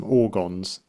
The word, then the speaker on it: Ogrons: Daleks coming over the hill with the I keep forgetting how to pronounce them. Ogrons.